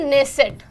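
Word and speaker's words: Knesset: Israel की संसद का नाम, तो इजराइल की संसद का नाम है नेसेट। नेसेट हमारी बहुत ही ज़्यादा फ्रेंडली कंट्री, और ये स्पेलिंग KNESSAT, ठीक है, नेसेट, ये याद रख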